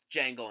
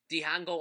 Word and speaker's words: Django: the hangout unchained no django unchained excuse me um that's how i pronounced it the first time i saw it before he said his name was django um dion go unchained um quentin tarantino directed